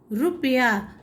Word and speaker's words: रुपया: रुपया जब हम बोलते हैं तो हमारा उच्चारण रुपया होता है, रुपया नहीं होता है, इसीलिए छोटे ऊ की मात्रा।